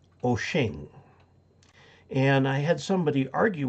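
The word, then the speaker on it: Wouxun: bad like uh the radio w-o-u-x-u-n is actually pronounced oching and i had somebody argue with me that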